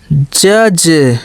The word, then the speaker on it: judge: जज, JUDGE, ठीक है, डी के बाद GE आया तो इसलिए जज नहीं जज, डी को नहीं पढ़ा, जज, ठीक है।